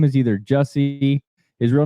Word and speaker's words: Jussie: Well, you're training so that you won't have what happened to Juicy Smollett. How do you say his name? His real name? Yeah, it's Juicy. Juicy Smollett. Smollett. Jussie. It's Jussie.